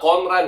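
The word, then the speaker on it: 混乱: Cara bacanya itu adalah konran ya.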